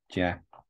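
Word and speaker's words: 架: On the top you have the pronunciation, jia.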